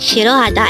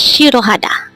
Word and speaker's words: 싫어하다: it can be conjugated how do you write shirohada in hangout this composed of four syllables but the first syllable what it is